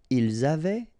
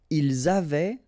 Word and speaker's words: ils avaient: Ils avaient, so look here, E-N-T, you write them, you don't pronounce them.